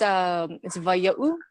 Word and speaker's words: Waia'u: It's Waia'u. Oh, cool. Okay. So in that little mark, it's not an apostrophe, it's an Okina, and it's Hawaiian.